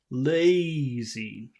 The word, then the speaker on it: lazy: if you have a if you have a a consonant that vibrates down here that makes the vowel sound longer lazy Laz lazy lazy lazy as before I just say lazy so it does not vibrate in my throat but now when I Che correctly it vibrates lazy lazy when I touch